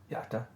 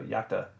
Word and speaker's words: iacta: that's i think that's supposed to be iacta yakta uh i can't tell because an eye if